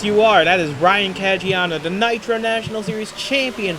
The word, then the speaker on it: Caggiano: Now Carter is under attack from Caggiano. I believe I'm pronouncing that right. Yes, you are. That is Ryan Caggiano, the Nitro National Series champion from a year ago.